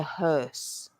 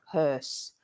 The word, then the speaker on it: hearse: coffin is called the hearse hearse which is also a bit of a tricky spelling and pronunciation think of her like his and her and then you just put an S at the end HSE HSE HSE MH